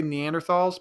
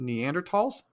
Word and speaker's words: Neanderthal: Most people say Neanderthals, but I guess it's pronounced Neanderthals.